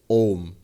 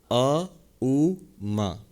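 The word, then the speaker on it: ॐ: In fact, the A and the U, in English you write it as A-U-M, but the A and the U, if you put it together by the rules of Sanskrit grammar, it becomes O.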